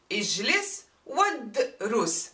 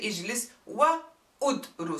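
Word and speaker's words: اجلس وادرس: But if I say sit and study, ijlis wadrus, see, I don't pronounce the u. I go all the way to the dal with sukun. Ijlis wadrus. I don't say ijlis wa udrus.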